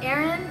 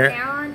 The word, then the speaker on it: Aaron: You can call him Aaron or Aaron. Aaron.